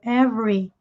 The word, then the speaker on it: every: do inglês que enrolado every every nós não pronunciamos o segundo e every every man 100g junte